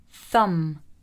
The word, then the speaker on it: thumb: Thumb, thumb.